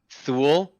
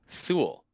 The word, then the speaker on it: Thule: Thule is Thule. It rhymes with fool.